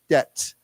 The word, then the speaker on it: debt: in your debt okay remember the the B is not pronounced it's it's quiet silently we so it's D it's like debt not not debit okay